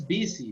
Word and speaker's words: busy: that this is busy, the pronunciation, okay?